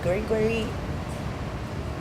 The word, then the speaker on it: Guri Guri: Guri Guri first started off as Goodie Goodie, something good, G-O-O-D-I-E. But he said that the Japanese, the older Japanese people couldn't pronounce goodie goodie, and it would come out guri guri.